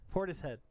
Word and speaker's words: Portishead: Am I saying it wrong? You're saying it wrong. Porterhead. Portishead. I'm sorry.